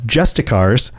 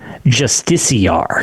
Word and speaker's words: justiciar: to say in so I always say justicar or did say just AAR I've heard it pronounced ingame justiciar justiciar openly Express I'm going to assume they know better than me CU I used to say justicar but the game pronoun justiciar justicar openly expressed hostility